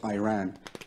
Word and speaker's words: Iran: Iran Iranian people but you're pronouncing our country's name wrong our country is named Iran not Iran please once and for all